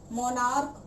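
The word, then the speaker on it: monarch: ध्यान से सुनिएगा, जिनका अंत तो सी एच होता है लेकिन उच्चारण के किया जाता है, प्रोनाउंसिएशन के किया जाता है। जैसे कि स्टमक, मोनार्क, तो ये जो वर्ड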